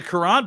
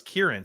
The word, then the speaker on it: Karan: And I believe I got the pronunciation right. It's Karan Amaji from Yale. Did I get it right? I assume so because the Karan part was actually, that's news to me. I thought it was Kieran.